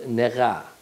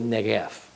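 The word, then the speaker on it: נגף: Well, Moses pronounces to Pharaoh the coming of the first stroke, the first negah, or more correctly, negef.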